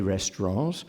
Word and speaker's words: restaurant: first America wanted to pronounce it in the French manner I think I probably still say restaurants and when I asked my students this afternoon though two-thirds of them sound the T a third of them don't and it didn't seem